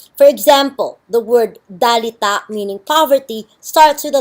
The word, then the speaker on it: dalita: location of the symbol at the start of the word it is pronounced d between two vowels it is pronounced R for example the word dalita meaning poverty starts with